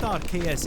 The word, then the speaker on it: Arceus: Besides which, it's pronounced Arceus anyway. It's Arcane and Deus, and if you think otherwise, then I'll call my pal Tam to set about you with a claw hammer.